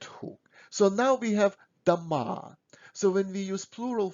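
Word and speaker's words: дома: with the ration o if o in a word is not under stress we pronounce it as a kind of ah so we don't say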